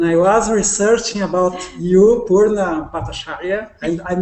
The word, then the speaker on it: Purna Bhattacharya: Well, I see that you are a very creative woman, and I was researching about you, Purna Bhattacharya, and I'm not sure if I'm with the exact You're pronouncing it pronunciation.